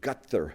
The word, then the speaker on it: Ghadar: the formation of the it's actually pronounced something close to gutther movement. I don't know why it is spelled Gdar and I've talked about this with people.